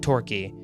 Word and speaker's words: Torquay: These images are of an abandoned kids' soft play in Torquay, England. I looked up how to say this word, and it said Torquay, so I'm going to pronounce it Torquay.